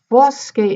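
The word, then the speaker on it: fosche: e vedi le foske fosuke is an open o fosuke the stressed syllable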